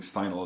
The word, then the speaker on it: Steinle: of Catherine's final stay no I think Steindl is the way that you pronounce her last name in San Francisco this